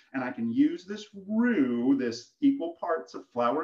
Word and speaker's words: roux: today, and that is roux, R-O-U-X, okay? It's kind of a weird word, and it isn't pronounced the way it's spelled necessarily, right?